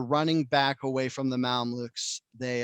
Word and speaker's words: Mamluk: And then so anyways, King Louis loses that battle, and as they're running back away from the Mamluks, they Mamluk. That's what I just Googled the pronunciation.